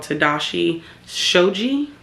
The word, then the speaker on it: Tadashi Shoji: brand I've been hearing about and it's called Tadashi Shoji and that's how you pronounce it um it is somewhat current style